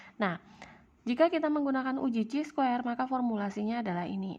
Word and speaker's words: chi-square: adalah uji chi-square atau ditulisnya kayak x kuadrat tapi ini dibacanya dengan chi-square tapi jika standar deviasi